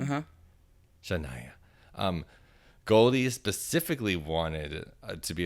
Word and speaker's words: Shania: Shania.